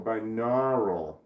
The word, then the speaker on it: binaural: It sounds like nautical. Binaural. Pronounced binaural. It's pronounced binaural according to Kulu.